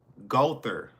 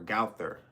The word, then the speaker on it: Gowther: Gother or galther. G O W T H E R. It's different ways how you can pronounce it.